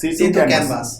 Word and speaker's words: Setu Canvas: How do you pronounce this? Setu Canvas.